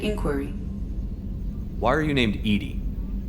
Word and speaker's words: EDI: why are you named edie edie is the phonetic pronunciation of edi that is an acronym for enhanced defense intelligence what do you